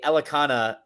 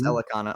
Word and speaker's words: Elekana: Ibo Aslan taking on Billy Elekana. I think that's how you pronounce that name. Yes, Elekana.